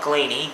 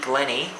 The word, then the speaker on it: Glenny: and um coach Blake Glenny not ganie Glenny um how I haven't noticed there's two ends in It All season been spelling it wrong been saying it wrong Blake Glenny was absolutely